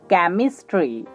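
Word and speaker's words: chemistry: Next উদাহরণ দেখুন, CHEM, came, IS, ইস, TRY, tree, কেমিস্ট্রি, কেমিস্ট্রি। Next উদাহরণ দেখুন, CIV, সিপ। আই লেটারটির উচ্চারণ হবে ই এর মতো, ELI, লাই, ZA, জে, TION, সন, সিভিলাইজেশন, সিভিলাইজেশন।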